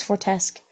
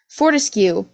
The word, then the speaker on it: Fortescue: How do you say Fortescue. Fortescue? Fortescue. I thought it was Fortesque. Fortescue, and Narcissa, because Alice